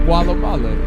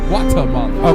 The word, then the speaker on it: Guatemala: Did I say it right? No, you did not. That is not Gualamala. It is Guatemala.